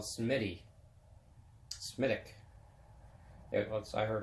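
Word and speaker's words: Smithwick's: but Semitic not Smithwick they don't pronounce the T and there's no W in the Irish language so Semitic not Smith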